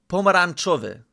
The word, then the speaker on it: pomarańczowy: Make sure to pronounce the N with the accent.